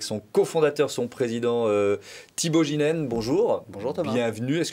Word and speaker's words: Geenen: de suite avec son cofondateur, son président Thibaut Ginène. Bonjour. Bonjour Thomas. Bienvenue. Est-ce que j'ai bien prononcé votre nom?